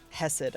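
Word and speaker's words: Chesed: Hesed, okay.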